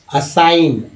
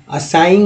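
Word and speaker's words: assign: जी क्या हो जाएगा, जी साइलेंट हो जाएगा, यानी जी को आप हटा लीजिए, जी का उच्चारण नहीं करना है पढ़ते समय, करना उच्चारण किसका है, सिर्फ एन का। तो चलिए पढ़ के देखते हैं, अलाइन अलाइन बोलेंगे या लाइन, असाइन असाइन बोलते ही हैं, असाइंग नहीं बोलेंगे, तो असाइन, बी बिनिन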